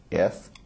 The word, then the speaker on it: Srinivasan: My name is Srini-CTO-of-CVC, so I spell it like this: SRINIVASAN.